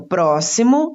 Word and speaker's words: próximo: Então, próximo está acentuada a antepenúltima sílaba, pró.